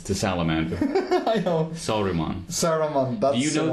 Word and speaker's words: Saruman: I can't pronounce it. Well, you got close. It's to Salamander. I know. Saruman.